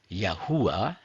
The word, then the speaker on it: Yahuah: Before I go on, I would like you to note, in my presentations I'm using YHVH, in Hebrew Yod-Heh-Vav-Heh, which is pronounced Yahuah instead of Lord, which is a generic title and not a name.